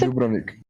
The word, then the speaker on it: Dubrovnik: No, it's Dubrovnik. Oh, is that how you pronounce it? Dubrovnik.